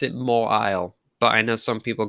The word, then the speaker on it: Mawile: So this one is Pokemon known as, now I pronounce it Mawile, but I know some people call it Mawile, so whatever your preference, none of my business.